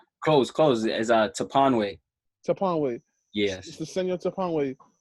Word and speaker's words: Toponwey: close is Toponwey.